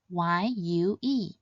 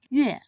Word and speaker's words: yuè: However, when writing the pinyin for yue, it should be written as yue with the fourth tone.